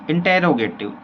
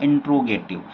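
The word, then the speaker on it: interrogative: बतलाना चाहूँ दोस्तों कि कई सारे जो पर्सन होते हैं ना उनका प्रोनाउंसिएशन क्या होता है, इंट्रोगेटिव। तो इंट्रो गलत वर्ड होता है, इंट्रोडक्शन तो हम खुद अपना देते हैं। यहाँ पर हम क्या पढ़ते हैं, इंटेरोगेटिव, और इसका जो सिंटेक्स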